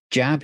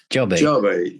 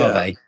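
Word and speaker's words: Djabe: But you've also recently come back from Hungary where you've been playing with Jab. Is that the right way to pronounce it? Jobby, yeah. Jobby.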